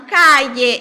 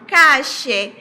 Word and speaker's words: calle: Em alguns lugares falam calle, em outros lugares falam cache, em outros lugares falam calle. Então, nós temos aí uma diferença na pronúncia, no sotaque, né? Desses dois L's.